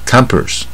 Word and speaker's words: compass: 发音也是不一样啊，compass。